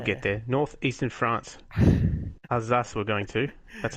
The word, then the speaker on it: Alsace: Alsace we're going to.